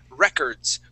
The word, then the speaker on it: records: I'm gonna highlight here this word is records with the accent at the very beginning records so it's records